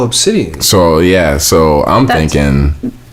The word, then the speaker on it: Abcde: So the lady's daughter's name is spelled ABCDE, and it's Obsidian.